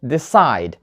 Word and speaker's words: decide: the second syllable begin and decide not decide this side the stress is on the second syllable clear let's move on